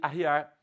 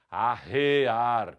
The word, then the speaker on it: arrear: então pode ocorrer isso a pessoa pode se equivocar e falar aqui arriar eu vou arriar o cavalo ou por arreios no cavalo a pronúncia tem de ser a rear com e forte e o paroni mua